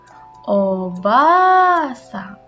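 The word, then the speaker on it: おばあさん: Ojisang bertemu dengan nenek disebut dengan obasang. A-nya ganda ya, dibacanya panjang.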